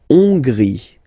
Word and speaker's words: Hongrie: La Hongrie. So remember, H doesn't exist, so you don't pronounce it. So it starts with O-N, on, and then gris, final E, not pronounced. La Hongrie.